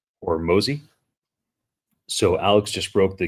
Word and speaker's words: Hormozi: I believe his last name is pronounced Hormozi.